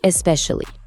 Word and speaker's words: especially: Alors, le premier c'est especially. On l'utilise quand on veut vraiment insister sur un truc en particulier. Et attention à la prononciation, c'est important. On accentue bien la deuxième syllabe. Ça donne sally.